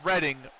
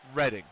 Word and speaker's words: Reading: accent like hands down so they don't pronounce reading reading when I say reading railroad or reading in the UK or Reading Pennsylvania they pronounce it reading I'm like it's not reading you need to learn to be reading you need to read more it's reading so it's uh that's that